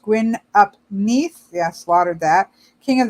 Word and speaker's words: Gwyn ap Nudd: The horned god, master of the hunt, even Gwyn ap Nudd, pronounced Gwyn ap Nith.